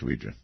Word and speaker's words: Ouija: it yes I'm I'm quite aware of the correct pronunciation is Ouija Ouija board I I will not